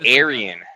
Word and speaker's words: Aryan: I see someone with the username that says like Arian something and then I always think, "Oh, this guy's we're saying Aryan, not Arian."